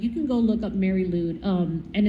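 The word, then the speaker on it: Mari Lwyd: if you look up the videos of these, like, you can go look up Mary Lude, and it's hard to, it's spelled MARILWYD.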